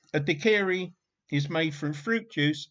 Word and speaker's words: daiquiri: Dave's taking the mick out of your pronunciation and saying, did say dickery? Daiquiri, Gov. Daiquiri, not a dickery.